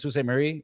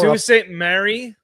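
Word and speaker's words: Sault Ste. Marie: So, we used to stop like we were working at Sous St. Mary. We detour Sue St. Mary.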